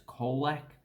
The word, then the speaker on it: Colac: So the two C's are pronounced the same. So that should actually be Colac.